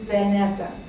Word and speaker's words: Beneta: My real name is Beneta. And in the Greek alphabet, the V looks like a B, but it's pronounced like a V, so it's a little bit confusing.